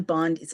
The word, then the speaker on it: Bondi: And in a TikTok video shared Monday, Kelly had goaded Bondi, am I pronouncing her name correctly? Bondi, to arrest him. Pam Bond, it's Bondi.